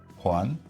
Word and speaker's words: Joan: Today joining me is uh Juan Juan, right? It's correct. Yes. Yes. Uh you said your name is uh tricky to pronounce same here because uh although my name